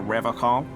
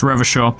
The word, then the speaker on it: Revachol: But someone has to stay strong for Revocol. It's Revachol. His gaze shifts to the pile of soggy logs at his feet. He pronounces Revocol with a hard K, unlike other people.